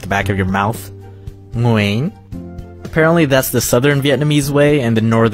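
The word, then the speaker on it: Nguyễn: it to be say when actually it's pronounced Muin all I know is it's got to come from your uvula you know that punching bag thing at the back of your mouth mooing apparently that's the southern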